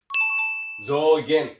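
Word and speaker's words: 増減: Cara bacanya adalah zogen ya.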